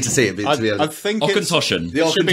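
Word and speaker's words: Auchentoshan: And this dude just goes, pal, it's, you want to pronounce it, Ockentoshan.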